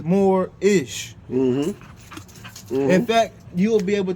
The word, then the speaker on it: Moorish: It's spelled Moorish, but we know it's more-ish.